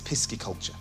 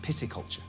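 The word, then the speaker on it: pisciculture: It's interesting you say that cuz I think a lot of people think it's pisky culture, but it's actually pronounced pissy culture.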